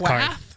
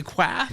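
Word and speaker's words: Qarth: I think it's Karth. It's spelled with the Q. Quack. I want to say Quath, but it's not. Karth.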